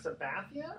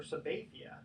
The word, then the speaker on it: Sabathia: Hey, by the way, is it CC Sabathia or Sabathia? Yeah, I think it's actually Sabathia. Sabathia, okay, that's how I've always remembered them. I know it's pronounced sometimes Sabathia, but I think it's Sabathia.